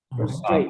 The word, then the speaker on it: frustrated: Frustrated. Actually, so sorry. So it'd be frustrated. Frustrated. Yeah, so the intonation is the accent on the first syllable.